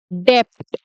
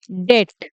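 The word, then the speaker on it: depth: बहुत सारे लोग इसको बोलते हैं डेप्ट। ठीक है, डेप्ट बोल देते हैं, जो कि गलत है। डेप्ट नहीं बोलते इसे, इसे बोला जाता है डेट। इसका सही प्रोनाउंसिएशन है डेट। ठीक है, प साइलेंट होगा इसका, जो पी है डेप्थ का, पी साइलेंट होगा। ठीक है दोस्तों, तो इसको डेप्थ नहीं बोलेंगे, इसे हम डेट बोलेंगे।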